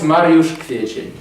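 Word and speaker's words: Mariusz Kwiecień: They couldn't pronounce this name and they called me Mario Aprile because it was much easier to pronounce. So, no, now it's Mariusz Kwiecien.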